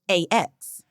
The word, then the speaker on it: asked: It might be a regional thing that word ASKED is sometimes pronounced AX.